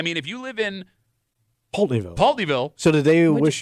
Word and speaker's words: Pulteneyville: it's Pulteneyville.